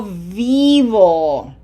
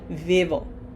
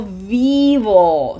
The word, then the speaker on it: vivo: Yo vivo. Remember, you have to smile for that I. It has to be long. This is not vivo. Okay? Yo vivo.